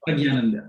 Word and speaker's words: Prajnananda: And so Swami Prajnananda, I called him Swami P because I always had a hard time pronouncing his name. Pragyananda, yeah, that's right.